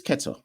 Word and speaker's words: Quetta: Kalandars is also kind of pronounced with a K, but Quetta is like Q.